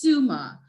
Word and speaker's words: Tsuma: We have Tsuma, or pronounced Suma, from Johannesburg.